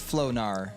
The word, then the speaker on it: Flognar: Salty says Flognar. Flognar. Thank you.